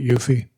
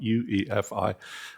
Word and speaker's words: UEFI: Well, so for those of us that started this whole thing, since it came from EFI as a three-letter acronym, you wouldn't really say FE.